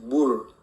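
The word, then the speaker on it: בּוֹר: Mira, la palabra pozo viene del hebreo bor, y se pronuncia bu, así, bur.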